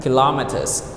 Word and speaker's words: kilometer: It's 7 kilometers here. Here in Khmer we call kilometer, but in English we did kilometers. Kilometers, not kilometers. Kilo. So the stress is on the second syllable.